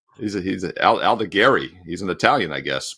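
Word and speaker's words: Aldegheri: Born in Italy, so he's Allegari.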